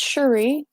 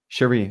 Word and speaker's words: Cherie: French French pronunciation um Cherie is like an Americanized version of Cherie yeah so why don't